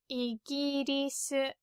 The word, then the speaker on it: イギリス: But this is very different from the English pronunciation, so you might not be able to guess. Anyway, it's イギリス. It means England. Apparently it's from Portuguese, but doesn't really sound like the Portuguese words for England.